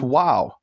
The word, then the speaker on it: Vav: The letter Vav exists in Arabic and it's pronounced wow. And in fact, the pronunciation of wow comes from Arabic. The letter was originally pronounced V, and it was the influence of Arabic, which was the native language of most Jews 1,000 years ago, that the Vav was transformed into a W.